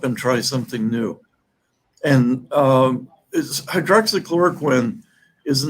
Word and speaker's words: hydroxychloroquine: How do you pronounce it? Hydroxychloroquine.